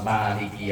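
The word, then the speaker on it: مالك: maiki yaumiddin nah lafal Maliki yaumiddin itu qiroah yang Masyur di kita manyanya dibaca panjang tapi kalau ada seandainya kita makmuman kok imamnya bacanya pendek benar engak Ben mau Maliki yaumiddin mauiki yaumiddin sama-sama benar Takutnya nanti kok bacanya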